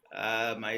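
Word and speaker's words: Emet: I am the founder and CEO of Emmet Leadership Academy. Emmet, they are actually pronounced that as M, as the Hebrew word for truth.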